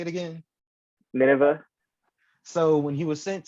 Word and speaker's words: Nineveh: was then sent to um how do you pronounce it the wave the wave Nineveh yeah Nineveh somebody's Bible somebody's Bible terms I can't get them right but uh I say it again Nineveh so when he was sent to Nineveh to